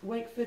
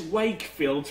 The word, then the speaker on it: Wakeford: Well, when I check to see some artist list here, it says Wakefield, but that's wrong. Sometimes it should be get Wakeford.